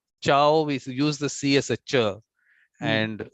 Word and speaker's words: ciao: with your C there we don't use it at a chair because there is no e there is no e and no I so ciao but if you don't have the I or the E is cow is okay good the difference